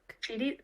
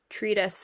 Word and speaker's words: treatise: Treatise Treatise tretas Treatise treaty like treaty no not like treaty it's like t-r-e-a-t-i-s-e treat us then I think treat us Treatise Kate learns how